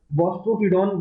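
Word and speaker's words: boustrophedon: बॉस्ट्रोफिडॉन बोला जाता है, ठीक है।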